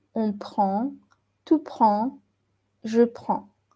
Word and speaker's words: prends: Ici, vous voyez, même si ça s'écrit un peu différent, prend et prend, avec S, ça se prononce pareil. Tu prends, on prend, il prend, elle prend. Ça se prononce pareil, même si ici, j'ai mis un S.